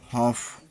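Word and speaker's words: half: L silent, D L silent, D एफ के तथा एम के पहले आया हुआ एल साइलेंट होता है, जैसे शुड, चाहिए, कुड सका, कॉफ, बछड़ा, हाफ, आधा, फोल्क, जनसमूह, टॉक, बात करना, पाम, हथेली, आर्म्स, भिक्षा।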